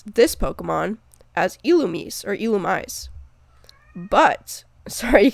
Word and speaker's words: Illumise: You might have gathered that the illum part of the name correlates to illuminate, but actually, Illumise kept its Japanese name, so according to the Japanese, it should be pronounced Illumise.